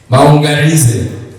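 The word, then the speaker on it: Maunganidze: How do you pronounce the second name, the surname? Maungarize. Maungarize.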